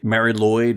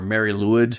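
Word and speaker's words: Mari Lwyd: from South Wales with the Mary Lloyd or Mary leid depending on who you're talking to and where they're from as to how they'll pronounce that but this really became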